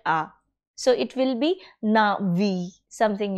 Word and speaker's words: Na'vi: Now, if I want to pronounce Na'vi, you see that I have to make an extra effort because of this particular tiny dot over here, that is a small apostrophe placed on the letter A. It is there because the letter A is not pronounced in that culture in the way we pronounce it. We say Na'vi.